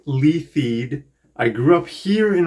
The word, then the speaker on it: Leithead: My name is Leithead, pronounced Leithead.